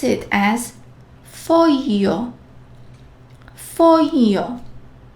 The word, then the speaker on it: foglio: G plus L has a very different pronunciation. How would you read this word? Foglio. GL, so we will pronounce it as foglio.